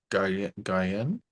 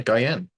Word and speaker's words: Guillen: Isn't it Um, like the chocolate? Guyen? Yeah, Guyen.